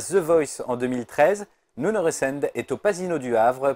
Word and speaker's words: Nuno Resende: Alors, en portugais, ça se dit Nuno Resende, et c'est imprononciable pour le français. Alors, la plupart disent Nuno Resende, d'autres disent Nino, Nuno, Donc si Nano.